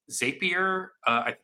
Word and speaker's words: Zapier: But it's something that I think, like, if you've ever used something like Zapier, Yep. I don't know. Yep. Yeah, that's how it's pronounced.